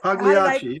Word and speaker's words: Pagliacci: Pagliacci, yes.